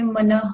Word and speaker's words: मनः: जैसे मनः है तो अ है लास्ट में, तो जो विसर्ग है उसमें मनः कहा अपन ने। और मनः पर्ययो है तो विसर्ग में हो कहेंगे, मनः पर्ययो हो। इसमें पहले भी आया था